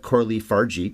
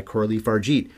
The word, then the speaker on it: Coralie Fargeat: to pronounce her name I finally found that I think she said it but Corley fargate is apparently how you say it so I saw several